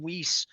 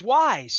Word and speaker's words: Weis: And even when I called them Weiss, I didn't even know how to pronounce it. But it's Wise.